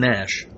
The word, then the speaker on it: Nash: Norman Nash. N-A-S-H? Yes. You know what that means in Russian? Nash means ours.